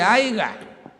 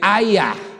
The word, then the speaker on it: haya: No se dice haiga, se dice haya, ¿verdad?